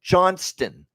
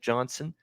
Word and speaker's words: Johnston: t in there right there's a t in that last name Johnston Johnston now I know sometimes when you say it quickly it'll sound like Johnson you know but you know if you say it like Wyatt Johnston and maybe the t is not enunciate but it drives me nuts when I hear Johnson for a guy when it's Johnston and I heard that